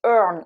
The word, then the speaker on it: earn: Maintenant, on a aussi le verbe to earn, où ici on a un EA qui se prononce E en son choix. Le son, je vous le